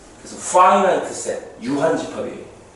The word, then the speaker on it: finite: 요 i가 i 발음이 나요. i. 그래서 finite set 유한집합이에요.